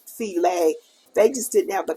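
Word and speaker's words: filé: and everybody would think that but actually it's pronounced C lay they just didn't have the comma up here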